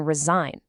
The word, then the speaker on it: resign: Or how about the silent G in resign? It connects it directly to resignation.